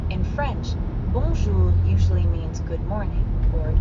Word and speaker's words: bonjour: In fact, the N isn't really pronounced at all.